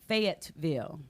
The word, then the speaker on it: Fayetteville: what's a bad bill but it's pronounced Fayetteville now king is